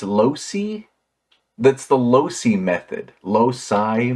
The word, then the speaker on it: loci: Losi I think it's Lucy that's the Losi method loci method I need to Google that see let's see pronounce low C method English this is most often pronounced as low side the loci method it's